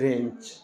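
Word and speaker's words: wrench: इसी से आया रैपर डब्लू को आपको नहीं पढ़ना जब जब डब्लू आर आएगा डब्लू को साइलेंट रखा जाता यहां पढ़ेंगे डब्लू आर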